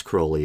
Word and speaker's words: Crowley: dawn and you know aleister crowley and yes crowley is the correct pronunciation and uh then i noticed for the